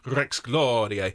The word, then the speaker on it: Rex Gloriae: Domine Jesu Christe, Rex Gloriae, Rex Gloriae. Very, very nice indeed. You're going to roll your R's, please, on Rex Gloriae and give me a big dynamic contrast between the first and second phrase.